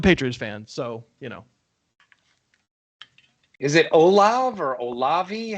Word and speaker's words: Olave: Well, I hate the Patriots too, and I'm a Patriots fan, so Is it Olav or Olavi? How do you say Olave? That is Chris Olave.